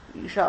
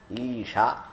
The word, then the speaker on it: ईशा: लोगों की आदत है दीर्घ ह्रस्व का ख्याल बिल्कुल बंगाल में सब बराबर है। दोनों इकार लिखने में लिखेंगे दो इकार, लेकिन उच्चारण में कोई फर्क नहीं है। तो ईशा और ईशा कोई अंतर नहीं मालूम पड़ता हमारे कान में। तो इसलिए ईशावास्यम ना, ईशा। तो हमारा कान खड़का। हमने कहा अरे भैया तो उच्चारण सुधरना पड़ेगा।